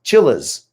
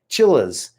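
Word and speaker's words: Chiliz: their magic the next one is hard to pronounce chillas chillas c h i c-h-i-l-i-z or c-h-i-l-i-z if you're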